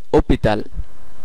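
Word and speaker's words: hôpital: দেখা যাক সেটা হচ্ছে অপিতাল ওপিতাল অপিতাল আপনি নিশ্চয় লক্ষ্য করলেন আসটা সাইলেন্ট আছে এবং যেহেতু আসটা সাইলেন্ট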